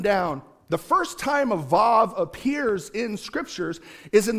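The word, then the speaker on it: וו: makes kind of a Wah sound. It's like breathing out. Wah. But the letter itself is usually pronounced Vav when you're teaching on the letter specifically.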